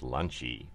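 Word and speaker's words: ランチ: the lunchie menu so in japanglish lunch is pronounced lunchy so that's what they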